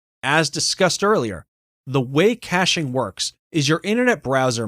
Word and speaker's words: caching: talk about wordpress caching caching pronounced caching is the process of